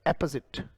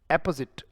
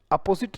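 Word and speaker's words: apposite: कोई चीज अगर बिल्कुल सही है उसे हम एपोजिट कह देते हैं बेटा, एपोजिट, राइट। एपोजिट, अपोजिट नहीं पढ़ना है, इट्स एपोजिट, ये उच्चारण है इसका। एप, इसमें ओ साइलेंट रहता है।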